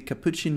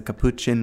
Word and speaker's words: capuchin: and said like hey you need to make your pronunciation work by focusing on the chin it's like actually the chin on your body it's a capuchin monkey and I was